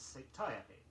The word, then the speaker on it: satiety: Our next word is often incorrectly accented. It is satiety, S-A-T-I-E-T-Y, which refers to anything indulged in to excess.